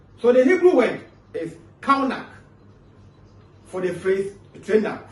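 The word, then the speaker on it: חָנַךְ: The Hebrew word for the phrase train up is kaunak, C-H-A-N-A-K. But the pronunciation is K-A-W. That's what I'm saying, kaunak, which depicts dedication to discipline.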